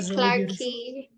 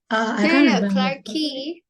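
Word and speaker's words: Clarke Quay: well I remember that it's Spanish it's actually clarky it's not turkey it's clerky we didn't go to the creeper okay clarky you pronounce it as Clark but you spell it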